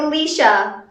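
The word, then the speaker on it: Laoise: Tell me, how do you get Leisha from this? How? You tell me. Irish is complicated because sometimes BH and MH make a V noise, but in this situation for Alicia, it's just silent.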